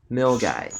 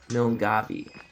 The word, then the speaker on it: Milngavie: Case in point, the starting town for the West Highland Way is pronounced Milgai, not Milngavie.